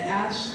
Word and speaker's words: Aesh: You can find me at Ash the Band. It is spelled AESH.